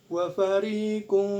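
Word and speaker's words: وفريق: Wafarikum. Nah, di sini ada ikhfa ausat, bacanya disamar-samar dan dengung yang seimbang asalkan kita konsisten dalam membacanya.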